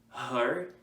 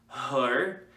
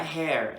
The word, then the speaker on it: her: Him, her, não é hair, hair é cabelo. Her, como se fosse falar mãe, esse atil. Her.